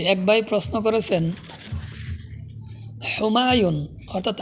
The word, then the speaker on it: হুমায়ুন: সঠিক উচ্চারণ হলো হুমায়ুন, হুমায়ুন অর্থাৎ হা দিয়ে, অর্থ হলো ভাগ্যবান।